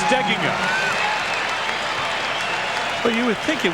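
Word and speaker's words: Steigenga: sound anywhere near us the accent on the pronunciation that most people use is on the second syllable but Matt says it should be on the first syllable fine player for Judd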